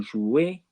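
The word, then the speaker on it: jouent: Vous jouez, EZ, for you plural play. And il, elle joue, for they play. Okay, now it's really important that you remember not to pronounce any of those letters for they.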